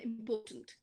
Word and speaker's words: important: we took important and important so important important three syllables which one is more stressed the middle one okay so important not